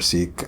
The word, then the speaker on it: Sikh: You can pronounce it Sikh or Sikh.